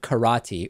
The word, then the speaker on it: karate: Matt said I should take up Karate or karate as I believe uh some people like to pronounce it they uh apparently those